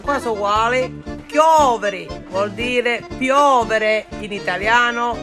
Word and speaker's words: chiovi: And today, because it's raining, the word rain in Sicilian is Chiovi. In Italian is piove. It sounds the same, but the pronunciation is a little different.